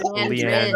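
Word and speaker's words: Liandrin: It is Leandrin.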